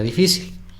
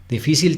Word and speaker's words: difícil: Entonces vamos a ver la palabra difícil. Difícil tiene 3 sílabas. Difícil. La sílaba tónica es fi. Difícil, ¿no? Es decir, la penúltima. Como es la sílaba tónica, es la penúltima, es una palabra grave y termina en L,